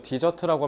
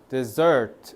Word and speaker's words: desert: 디저트라고 하면 큰일 나고 먹는 거 s 한 더 붙어야 돼. 여기 근데 desert라고 하면 안 되고 desert 이렇게 해야 돼.